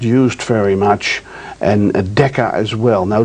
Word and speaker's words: mu: symbol you see over there is mu it's pronounced mu and then moliro familiar with that's one thousandth and then there's a st.